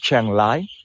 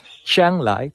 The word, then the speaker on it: Chiang Rai: The correct way to say it is not with the R, but we say like the L, Chiang Lai, Chiang Lai, Chiang Lai.